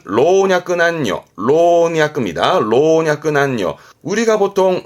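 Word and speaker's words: 老若男女: 늙고 젊고 남녀 순입니다 발음은 로냐 난요 조심할 건 남녀의 경우는 그렇죠 다시는 발음대로 남녀는 보통 단죠 단조 합니다만 내 글자로 묶을 때 발음은 로냐 안요 로냐 안요 로 기억해 두세요 이게요 음으로는이 정도면 되고요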